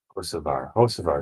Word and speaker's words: Hocevar: Hocevar is how you say it.